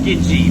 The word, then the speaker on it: Tsukiji: There's a couple of other past trips up here over the last few years on this boat, which is pronounced Tsukiji, by the way.